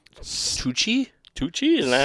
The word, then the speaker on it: Tucci: of them are, like, Tucci. Tucci? Tucci? Isn't that how you say it? I don't know. Is that what? Touche. Tucci? Yeah, sounds like it. Lucky. It's like Gucci, but with 2008.